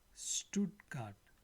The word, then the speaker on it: Stuttgart: So wherever we see ST is written, but it sounds like shit, right? So Stuttgart, die Straße.